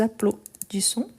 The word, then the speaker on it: applaudissons: N'oubliez pas, A plus U, il a les sons des O. Nous applaudissons. Vous applaudissez.